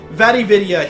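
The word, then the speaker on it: Vatividya: Vividia, he's the main one to go to for lore in the Souls series. Spell that out.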